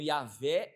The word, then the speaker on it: Yahvé: Eu creio que o nome de Deus hoje, ele deve ser pronunciado como Yahvé é salvação.